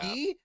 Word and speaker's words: Guy: It's pronounced Yeah. "gee" because that was the sound people made as he killed them, and he really liked it.